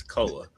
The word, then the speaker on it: Koa: It's Koa. Is it Koa? What did I say? Koi Peaks? Like he's a fish. Because it looks like koi. It looks more like koi than koa. It's KOA.